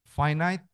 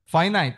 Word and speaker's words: finite: Hidup kita finite apa infinite? Hidup. Finit ya? Finit. Itu orang Sunda finit ngomongnya. Tulisannya finite. Dibacanya finite.